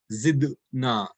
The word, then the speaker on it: zidna: the qalqala will come here, and we will pronounce it as zidna, zidna.